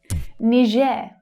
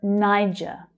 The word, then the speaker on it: Niger: Niger or Niger. Okay, so there's 2 different pronunciations that you'll hear native English speakers using. Niger is much closer to the French pronunciation of this word, which I think makes it a little more correct. But you'll hear Niger quite a lot as well.